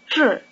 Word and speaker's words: 志: The second syllable, 志, rhymes with 是. The tongue is curled back for the J sound and stays curled back through the long R sound.